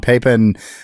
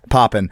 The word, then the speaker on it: Papen: On July 20th, 1932, von Pipen uh I'm just gonna keep mispronouncing that. Von Papen Pen, it's Poppin deposed the legitimately elected government of the state